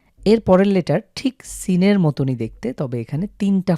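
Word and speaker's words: سين: Soft হবে যেমনভাবে আমরা সিন উচ্চারণ লক্ষ করুন সিন কিভাবে উচ্চারণ হয়। এই লেটারটার নাম হলো সিন। ইংরেজিতে আমরা এস এস যেভাবে উচ্চারণ করি ঠিক সেভাবে উচ্চারণ করব।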